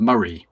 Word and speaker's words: Moray: I am in a farflung corners of a a county called Murray, which is spelled Moray for reasons that only the Scots know.